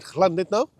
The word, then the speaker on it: Llandudno: But this is the great Orme, a random place just outside Llandudno, pronounced that.